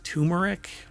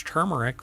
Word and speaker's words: turmeric: lot of people pronounce turmeric but it's not and I've had people when I say it's turmeric with an r and they're like there's